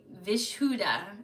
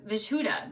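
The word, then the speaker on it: Vishuddha: v i s h u d d h vishuda vishuda the vishuda chakra commonly called the throat chakra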